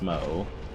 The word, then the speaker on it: Smough: that smo is pronounced smo I know that's that much is correct but I don't know